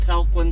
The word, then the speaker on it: Talquin: is lake lake talquin i believe it is pronounced lake falcon state forest this is